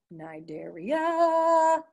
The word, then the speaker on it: Cnidaria: Okay, so the next one, guys, is phylum Cnidaria. Let's all say it, Cnidaria. Kind of sounds like that yogurt Activia when I just sang it like that. you'll notice the C is silent, okay?